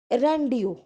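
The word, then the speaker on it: rendezvous: को क्या होना है रंडियो अब यह जो स्पेलिंग है आर्य एंड चीफ एग्जीक्यूटिव वाइस इसको क्या बोलते रोंडी रोंडी इसका मतलब होता है मीटिंग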